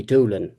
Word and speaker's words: Dowling: And there are many, many examples of of that, you know, or you'd have uh Dowling, uh you know, would be Doolin locally and so on.